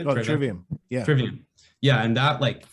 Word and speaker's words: Trivium: Oh, Trivium.